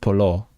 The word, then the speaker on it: polu: It's written Polu but pronounced Polo.